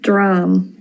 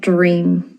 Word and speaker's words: dream: Dram. Dram. Not dream.